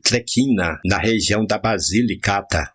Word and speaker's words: Tlecina: Os italianos radicados em Jequié vieram principalmente de Tlecina, pronuncia-se Tlequina, na região da Basilicata.